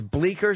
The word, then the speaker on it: Bleecker: Bleecker. The C is silent.